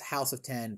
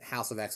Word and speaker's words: House of X: a recent comic run called uh it's technically pronounced house of 10 powers of 10. everybody calls it house of x and power of x jonathan hickman has made